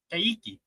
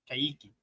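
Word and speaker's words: Kayky: The Q in Portuguese before E or I is pronounced like K. Okay. Kiki. Kiki.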